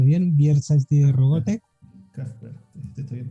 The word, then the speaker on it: Kraftwerk: Kraftwerk, está bien pronunciado. De hecho, Kraftwerk.